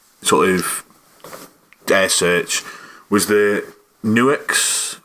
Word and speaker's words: Nux: search was the Nuix, or I'm going to call them Nux. I'm pretty sure they're like Nuix or whatever. Yeah. It's spelt Nux, so they're getting called Nux. It's like Cotone, just deal with it.